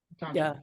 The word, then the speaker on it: Patanjali: Patanjali? Yeah. Yeah. I'm studying Sanskrit, so I have the pronunciation right.